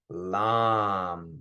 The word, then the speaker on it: lam: Okay, so the sound is lam. So everyone go ahead and do that. Lam. And when we're pronouncing the A's, you really want to elongate the A's.